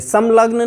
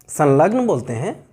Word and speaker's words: संलग्न: और हम करते भी हैं, संलग्न बोलते हैं, संलग्न नहीं बोलते, समलग्न नहीं बोलते, संलग्न बोलते हैं, वही बोलते हैं।